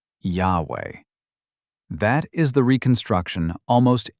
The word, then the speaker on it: Yahweh: The name is the third-person form of the verb to be. Run the rules forward, and you land on 2 syllables. In the 1830s, the German scholar Wilhelm Gesenius weighed all of it and settled on Yahweh.